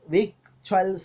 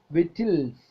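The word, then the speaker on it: victuals: ദ ക് sound is Silent in വിക്ചൽസ് നമ്മൾ വിക്ചൽസ് എന്നാണ് ഉച്ചരിക്കുന്നത് പക്ഷേ വിറ്റിൽസ് വിറ്റിൽസ് എന്നാണ് ശരിക്കും ഉച്ചാരണം വിറ്റിൽസ് വിറ്റിൽസ് ഇതൊരു ഫുഡ് ആണ് ഇത് ഓൾഡ്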